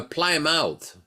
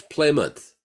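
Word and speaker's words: Plymouth: propan called it a Ply mouth and Guru Kus Swami at the time told him pra that word is not pronounced like that it's pouth Propet says no PL out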